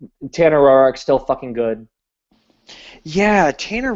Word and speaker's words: Roark: so well lately, and he actually pronounced it Roark instead of Rourke.